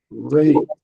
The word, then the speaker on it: rate: Rate. Huh? I want to hear the R rate.